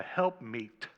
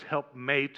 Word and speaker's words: helpmeet: that women are a helpmeet for men. I thought the word was helpmate, and they were just saying it wrong. But it's actually an Old English word, meet, M-E-E-T, which means suitable.